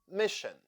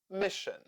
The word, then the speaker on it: mission: Mission. Sion sounds shin in this word. Mission.